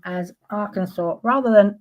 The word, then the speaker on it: Arkansas: So in 1881, Arkansas passed legislation officially declaring the corre the correct pronunciation of the state's name as Arkansas rather than Aranansas, which is how it looks like it's spelled.